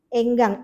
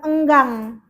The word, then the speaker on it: enggang: pelapalan bahasa Dayak seperti enggang ya. Enggang. E-nya juga di depan. Nah, engang itu bukan engang pelafalannya tapi enggang ya karena menggunakan pelafalan dalam bahasa daya.